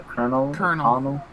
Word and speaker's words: colonel: I don't know how to say it, a colonel. Yeah, colonel.